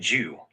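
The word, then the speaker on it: 九: The primary reason nine is loved is because its pronunciation Jew is identical to the word for longasting or eternal quote Jew.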